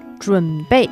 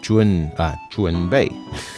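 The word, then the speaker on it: 准备: And then 准备 am I pronouncing that right? 准备准备. Yes.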